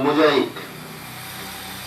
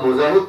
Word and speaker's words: মোজাইক: এই যখন টাইলস এর পরিবর্তন হয়নি সেই সময়, তখন তো কি সিস্টেম ছিল, মোজাইক। গ্রামের লোকেরা মোজাইক সঠিক উচ্চারণ করতে পারতো না, বলতো মোজাহিক করে গেছে, মেজি মোজাহিক করেছে।